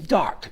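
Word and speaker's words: Darque: So we were going to call the club name Dark, D-A-R-Q-U-E.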